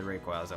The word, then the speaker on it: Rayquaza: Yeah, it's the Rayquaza one. Rayqua how it's usually pronounced or I think it's canon that is Rayquaza. In Portuguese it sounds like Rayquaza. So, I get heavily influenced by the Portuguese pronunciation of words.